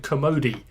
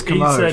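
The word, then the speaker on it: Kermode: How do you pronounce that name? Is it Commode? Or Commode. A friend of mine pronounced it Commodi. Okay. I'm pretty sure it's not that. I'm pretty sure it's Commode.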